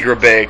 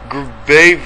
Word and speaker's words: Grabavac: That can't be Grabaic. It's Grabavac. No happy birthday.